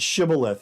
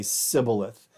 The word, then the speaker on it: shibboleth: And they say, I'll pronounce the word shibboleth, and they say sibboleth, because Hebrew has this sound that other languages did not.